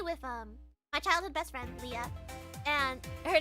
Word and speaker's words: Leah: Leah, no, chat, okay. Leah, but spelled L-E-A-H, not L-I-A. Her name is spelled L-E-A-H. Leah, like in Love Live.